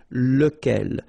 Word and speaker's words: lequel: So remember, you've got to pronounce it lequel. Even if you get this QU, okay, remember that this U phonetically doesn't exist, so lequel.